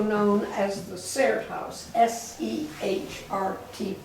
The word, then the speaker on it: Sehrt: Welcome to the Augusta History Museum, also known as the Sehrt House, S-E-H-R-T, pronounced Sehrt.